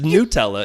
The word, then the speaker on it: Nutella: Nutella versus Nutella yeah it's Nutella it's made out of nuts but it's Nutella is the way it's pronounced and so it's going to be Nutella it has to be